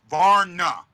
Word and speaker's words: Vrana: Jacob V Vana vaa it's not VAR it's Vara Vara it's one syllable you guys are saying it almost like it's two syllables Vara it's not VAR